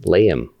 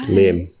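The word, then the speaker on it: Liem: And my name is not technically pronounced Liam. It's Lim.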